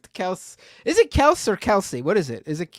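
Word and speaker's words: Kelce: nothing they yeah they are uh no it's Kelsey you're wrong buddy it's Kelsey it's Kelsey the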